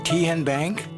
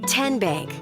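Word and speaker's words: TNBank: How do you say the name Kien Bank? Nope. Tin Bank. Uh-uh. So, what is it? Tenbank. 10 as in Tennessee.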